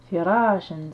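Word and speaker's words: فراشا: Fi ra, suivi d'une alif de prolongation, ra shen, firashen. Je rappelle que ici ce alif n'est qu'un support au tanwin ma al-fatha et qui ne se prononce pas. Firashan, c'est-à-dire un lit, une paillasse, d'accord?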